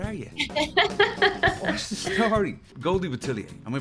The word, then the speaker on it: Goldie Boutilier: Goldie Boutilier. Am I pronouncing that correct first? Because I kept contradicting myself. It's Goldie Boutilier?